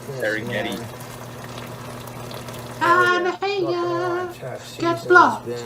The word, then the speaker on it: Serengeti: Let's take our Serenghetto pepper jack. Serenghetto! Cheese. Darren Ghetto, that's what it is. I want to put it on top. Oh, said burger meats. Here it is a mispronunciation. Some Like Serengeti.